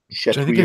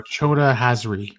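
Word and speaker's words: Chota Hazri: Key charge, and then there's the character that I can never pronounce, Chetri or whatever. Choda Hazri.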